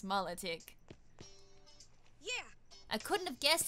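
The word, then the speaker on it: Milotic: my low tech so whoever says my like or something like that is the pronounced correct pronunciation is incorrect it's mullet ick yeah I couldn't have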